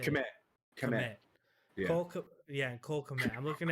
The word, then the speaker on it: Kmet: Kmet.